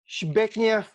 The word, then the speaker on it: Zbigniew: And Zbigniew yeah, na. but Shbeknev Herbert, Yes, actually. Shebeknev.